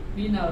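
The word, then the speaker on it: مِنَ: Jadi refleks ini kita bacanya minal gitu kan? Nah, kita baca minil. Ada saatnya nanti dibaca mini, tapi itu nanti kaidahnya lain lagi. Untuk ini dibaca mina bukan minu juga, ya, tapi mina. Kemarin kita jelaskan pada waalaikumsalam, itu jadi domah, ya.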